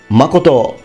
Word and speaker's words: Makoto: this case I can only tell you the pronunciation H H here's another one Mak Mak Makoto means truth or truthfulness although often I have